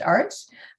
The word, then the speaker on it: Aerts: conversation our Anne Arts it's pronounced Arts um who's the head